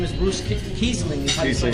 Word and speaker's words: Kiesling: Kiesling is how you say it, yeah. Kiesling, and like the Riesling, right? Like the German wine.